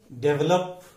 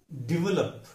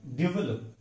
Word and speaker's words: develop: अगला शब्द है DEVELOP, डेवलप। हम ऐसे गलती से बोलते हैं, लेकिन उसका उच्चारण डेवलप। यहां पे उसका स्ट्रेस मार्क है, डेवलप।